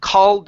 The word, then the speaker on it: called: right so it's because you need to open your mouth just a little bit wider so called out oo oo oo oo it's an ah sound instead of O are called called out